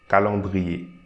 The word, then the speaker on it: calendrier: We are not going to pronounce the S here. So calendrier. Calendrier.